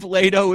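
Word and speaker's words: Leitao: Well, it had to have rhymed with Lido. So what would rhyme with Lido? Lato. It was Dave Lato as a coach.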